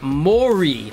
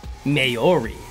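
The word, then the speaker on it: Māori: right i like that ps maori is pronounced mori not mayori so i've been saying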